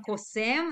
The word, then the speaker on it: קוסם: כן, אתה צודק, תהיו צודק, יש גם קוסם, the stress is on M, קוסם, ויש גם כמובן בתנך, זאת לא מחשפה, זאת בעלת האוב, אם אתם זוכרים את הסיפור של שאול, כן?